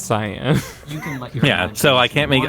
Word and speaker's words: Cyan: rob miller and said is it or is it uh cyan or cayenne and he linked me to a like how to pronounce this word webpage and so it's science yeah so i can't